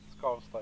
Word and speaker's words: Skavsta: could direct to Stockholm Skavsta. Is that how I pronounce it right? Skavsta, yeah. Skavsta.